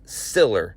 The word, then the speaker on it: Siller: Because by the way I said the name wrong a couple podcasts back it's Siller is the last name Frank Siller he created